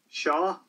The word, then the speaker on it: seo: Today, I think I'm going to look at how to say this and that in Irish, which those words in Irish are shaw, meaning this, and shin, meaning that. So, let's have a few examples here, and they'll be up here on the screen for you.